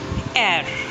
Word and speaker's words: heir: Air. It rhymes with air.